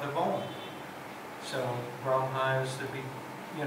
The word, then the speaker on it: Om: That's why we chant Om with three syllables sometimes.